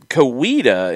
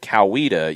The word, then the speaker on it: Coweta: says that she heard kaida when she first moved to georgia i i never really heard that yeah um kowita instead of coweta yes and that's very subtle like i i've heard